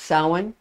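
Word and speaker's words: Samhain: ha a i n some people say Sam but it's actually pronounced sin okay so all hallow Eve is the same as sa and it traditionally begins at 6:00 p.m.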